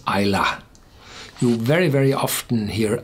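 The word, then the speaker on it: Islay: the back and this is how you you pronounce Ila you very very often hear iay and from time to time I'm tending to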